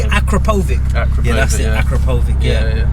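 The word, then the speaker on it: Akrapovič: Akrapovic, yeah, that's it.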